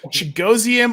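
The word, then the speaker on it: Chigoziem: with weird names gee why could that be chigosium Okonkwo okay so rookie tight end for the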